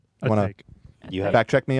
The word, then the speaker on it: Atake: It's called Eternal Atake. Atake. You have Fact check me on that, Ian. You know how this is pronounced? A take.